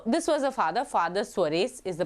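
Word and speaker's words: Suarez: e z so this was a father father sarees is the pronunciation he he told that actually three lines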